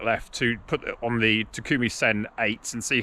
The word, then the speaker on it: Takumi Sen: my testing of the takumi sen apparently i said it wrong it's only three syllables not four so apologies for that against